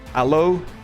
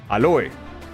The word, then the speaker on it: Aloe: You pronounce it like this written in a proper Finn. Aloe. In Spanish is aloe. Aloe vera. Aloe. Aloe. A is in aha. Aloe. Yeah, aloe. In German it's also aloe.